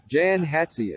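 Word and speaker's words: Jan Hatzius: Actually it's it's kind of based between German and Czech.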